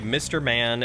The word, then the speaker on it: MRMN: fail is enjoyable so for mrmn and srss usually say Mr Man and sir sir like that's how it's pronounced as Mr Man and cerser interesting you live in